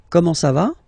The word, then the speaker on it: comment ça va: You raise a little bit at the end. Comment ça va?